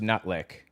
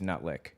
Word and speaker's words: Lutnick: You're getting all I think it's pronounced Lutnick, actually. Not Letnick. It's Lutnick.